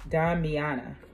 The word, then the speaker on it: Damiana: And it's pronounced Damiana.